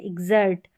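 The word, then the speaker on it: exert: और ये एग्जैक्ट, एग्जैक्ट है, एग्जर्ट। यहाँ पर ज पढ़ेंगे, क्योंकि ज तो पढ़ ही रहे हैं, क्योंकि एक्स को यहाँ पर आधा ग और ज प्रोनाउंस करें तो ये ज ही है।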